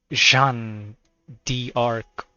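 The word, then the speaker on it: Jeanne d'Arc: bad John okay John so it's pronounced frenchly Jean D Arc alter historical wise she's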